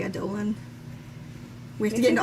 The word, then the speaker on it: Adolin: Adolin, but I say Adolan. We have to get into all the pronunciations here. I said Adeline before, but now I've turned you. Because I don't like it because Adeline rhymes with Caledon, and that's just weird.